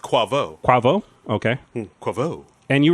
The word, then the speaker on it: Quavo: Cuervo? How is it spelled? It's Quavo. Quavo. And pronounced Quavo.